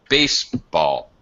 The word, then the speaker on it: baseball: Baseball. Bass is primary stress. It's high, higher pitch. Bass. But then when I pronounce ball, it's quite low. It's lower than a neutral unstressed.